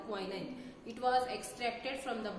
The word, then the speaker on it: quinine: How you used to pronounce it? It is quinine. Okay, quinine.